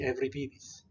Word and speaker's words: Euripides: It's Euripides. Not, you might, now somebody in the class might say Euripides. That's actually legitimate.